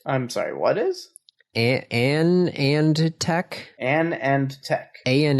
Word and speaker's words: AnandTech: pronounce it uh well it was founded by Anand LI or a non so probably a non Tech a nonch all right